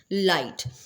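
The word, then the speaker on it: light: बात कर रहे हैं लाइट लाइट के अंदर हम जी को साइलेंट कर देंगे एल आई एस टी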